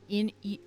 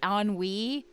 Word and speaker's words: ennui: I kept saying Inui, and it's Yeah. ennui.